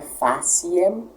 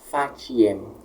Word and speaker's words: faciem: Não é faciem, como eu disse, mas fatiem.